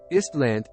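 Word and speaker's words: Ísland: Island, pronounced Istland, listen, is a Nordic island country in the North Atlantic Ocean and in the Arctic Ocean.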